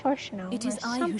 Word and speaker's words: Shannono: can barely pronounce his name. It's Shannono.